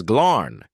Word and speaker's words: Glarn: "My designation is Glarn," he said, Dark's eyes glowing. "Though the G is silent, the RN is a frequency only canines perceive, and the rest is unpronounceable without a secondary tongue."